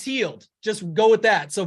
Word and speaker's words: Hield: It's like yield, it's healed.